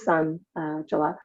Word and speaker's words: Sanjula: And as everybody can see, Sanjula is, even though her name is spelled Sanjula, pronounced Sanjula, but she is sort of like the sun, right?